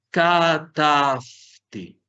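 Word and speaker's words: כָּתַבְתִּי: Katafti. Haciendo el acento en la segunda sílaba.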